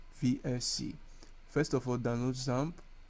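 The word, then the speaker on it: XAMPP: first of for download zamp zamp is spelled x m PP X MPP so Type download zamp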